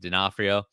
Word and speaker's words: D'Onofrio: In an interview with Popverse, Kingpin actor Vincent, I don't know how to say it, D'Onofrio has.